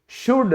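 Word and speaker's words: should: चाहिए, शुड, तो यहां भी यू के बाद क्या आया है, एल आया है, तो साइलेंट हो गया।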